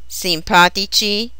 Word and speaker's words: simpatici: Their masculine plural endings have a soft C. Simpatici, antipatici, and energici.